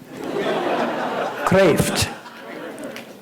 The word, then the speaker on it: Kreeft: It's Dutch. It means lobster. Craf. uh creft is is Americanized.